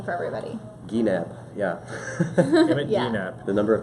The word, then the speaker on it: Gienapp: people he's interested your last name for everybody Gap yeah Gap the number of times I have to spell it every day is a little outrageous I